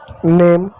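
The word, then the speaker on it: name: जैसे कुछ शब्द मैं दूं एन ए एम ई। एन को क्या पढ़ेंगे? न पढ़ेंगे। ए को क्या पढ़ेंगे? ए की मात्रा पढ़ेंगे। एम को क्या पढ़ेंगे? म पढ़ेंगे। हो गया आपका नेम। इ क्या होगा? ई साइलेंट होगा। ए को हमने ए क्यों पढ़ा? क्योंकि एक बात कांस्टेंट है और ये है इसलिए ए की मात्रा नेम उसी प्रकार एक और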